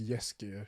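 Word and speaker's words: Jaskier: my whole thing like jessica i think is jessica like the polish for dandelion not sure oh wait i think it is because my girl says it as yes gear that's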